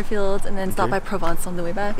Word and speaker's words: Provence: Provence.